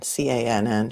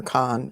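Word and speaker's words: Cann: It's Can, C-A-N-N. She pronounces it Can, but Gloria keeps calling her Con, and she gets kind of offended by it.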